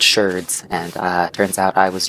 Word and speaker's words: sherds: person I was watching, I thought they were pronouncing it wrong, because I thought it was shard, like you would say of a normal pot. No, it is indeed sherds, and turns out I